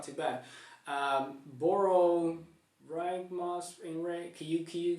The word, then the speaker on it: Borborygmos Enraged: Boro Ragmos Enraged. Can you pronounce this one for me? Borborygmos Enraged.